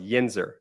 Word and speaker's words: yinzer: since I moved out to Pittsburgh it's actually pronounced yinzer and so yeah so so a lot of